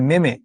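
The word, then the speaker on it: meme: ব্যঙ্গ কবিতা হচ্ছে তোমার কোনো কিছুকে ব্যঙ্গ করে বা মিম বানায় না, এখন আমরা ফেসবুক অনেক দেখি না, এটাকে অনেকে যদিও বলে মেমে, এটা মেমে নয়, এটার উচ্চারণ হচ্ছে মিম।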